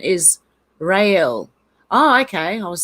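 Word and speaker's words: Raguel: a bit misleading but close its name is ragwell some pronounce it ragel but the correct pronouncer's pronouncement is real oh okay i was saying it really wrong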